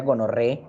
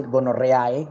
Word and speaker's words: gonorrhoeae: las cuales 2, Neisseria gonorrhoeae, mire que no se dice gonorrheae, sino gonorrhoeae. Todas estas 4 letras se pronuncian como una sola, como E.